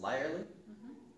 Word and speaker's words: Lirley: it's pronounced Lirley, Lirley.